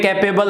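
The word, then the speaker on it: capable: Okay, एबल नहीं है, अबल है, ठीक है।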